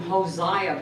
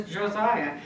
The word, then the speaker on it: Josiah: tell you for years I called him Hosea because I'm a New Mexican and I pronounce everything like Spanish so to me it was cause I agree but he was Josiah and he had terrible